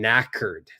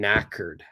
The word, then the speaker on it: knackered: Australians will say I'm knackered the K is silent here so they'll say I'm knackered I'm knackered which means